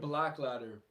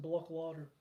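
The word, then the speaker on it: Blåkläder: Uh, uh, uh, shout out Black Ladder. It was a tan Black Ladder Um, excuse me, it's pronounced Block Ladder.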